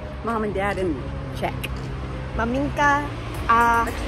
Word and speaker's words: maminka: Maminka.